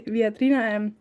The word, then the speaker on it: Viadrina: At the European University Viadrina, Frankfurt, Germany.